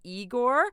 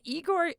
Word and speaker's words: Igorrr: band from France called eigor um eigor is spelled with not one not two but three Rs and it is super